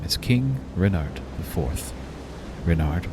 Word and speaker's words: Renard: Renard with the accent on the Rin.